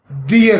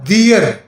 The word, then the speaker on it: their: तो इसकी मलकीती हालत दियर है, THEIR। बड़े अफसोस के साथ मैंने अक्सर लोगों को देखा है, स्टूडेंट को, कि वो THEIR इसके प्रोनाउंसिएशन है दियर, वो इसका देयर प्रोनाउंसिएशन करते हैं, गलत है।